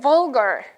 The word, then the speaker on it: vulgar: 기발한에다가 이게 만약에 사람의 성격이라면 이리로 갈지 저리로 갈지 모르는 거니까 변덕스러운 이렇게 whimsical 외워주시고 네 번째 vulgar 발음 vul이요 vulgar입니다. vulgar.